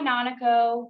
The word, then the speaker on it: Nanako: And then to ourselves, say something like, "Nanako, what does that rhyme with? Oh, Nanako, let's go to Monaco." And that way we always associate Nanako, Monaco, Nanako.